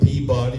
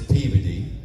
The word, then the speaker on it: Peabody: You know, you you think you know how to pronounce a city until you go there and you say it and the locals correct you. Like, don't go to Peabody, Massachusetts. Peabody. It's Peey.